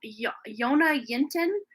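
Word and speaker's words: Jonna Jinton: Like I see, her name is Yona Yinton, but it's spelled with J, but the J's are silent.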